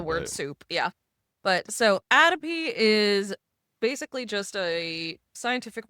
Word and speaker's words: atopy: What is the correct way? It's atopy. Atopy. Atopy. Not atopy.